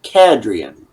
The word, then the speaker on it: Cadrian: So instead of Adrian, it's Cadrian.